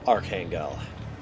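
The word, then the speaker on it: Arkhangel: stands The Towering vampire V of AR Kangal that's how we pronounced it let's not pretend it's not just Archangel butchered to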